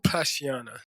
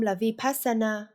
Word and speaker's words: vipashyana: Nhân tiện, đó được gọi là hlak tong (LHAG MTHONG) Vipashyana . Được rồi, đầu tiên, nó không được phát âm 'vipassana". Đó là một sự sửa đổi làm sai lệch của từ "vipashyana".